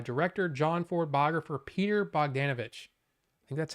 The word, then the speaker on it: Bogdanovich: feature commentary by director John Ford Boger Peter bogdanovich that's how you say it he passed away